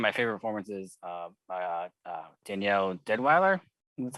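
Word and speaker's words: Deadwyler: But the big thing is, the mother played, I think, probably one of my favorite performances by Danielle Deadweiler. That's how you pronounce her last name.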